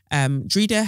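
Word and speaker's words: Dreda: Drida's parents are from the beautiful Caribbean island of Grenada. Her name Drida is Irish and pronounced with a long vowel E sound in the middle, which is what I've been doing anyway.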